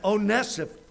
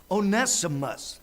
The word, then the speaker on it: Onesimus: onesim Odessa for us make sure I yeah oh nessive onesimus I had to write it down or I'd never pronounce it one of philemon's servants was onesimus onesimus had stolen some things from Philemon and